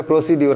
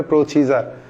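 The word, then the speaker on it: procedure: score তারপরে আসেন প্রসিজার অনেকে এটা বলে প্রসিডিউর আমাদের ল ডিপার্টমেন্টে অনেকেই স্যাররাই বলতো প্রসিডিউর কিন্তু হবে প্রসিজার তারপরে আসেন প্রসিজারাল হবে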